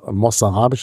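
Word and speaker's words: mozarabisch: Wort Mo verwandt ist in diesem Moss oder modz kann man vielleicht was sagen aber weistens wird es mossarabisch ausgesprochen das Z im spanischen Alter scharfes S ist und das ist eben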